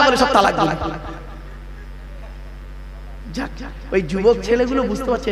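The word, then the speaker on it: طلاق: আমি এখানে বসে আছি চিন্তা নেই অনেকে ভয়ে উচ্চারণ যদি বউ চলে যায় কি বলে তালাক বাবা শব্দটা তালাক নয় শুনে নিন আজকে তালাক শব্দটা নয় শব্দটা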